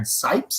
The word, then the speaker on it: Sipes: win the oaks uh spice are uh sipes is how you say your name that's how it says